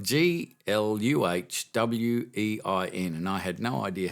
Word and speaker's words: Glühwein: It's spelt Gluhwein, and I had no idea how to pronounce it. So I did the old Google thing, and it's pronounced Glühwein.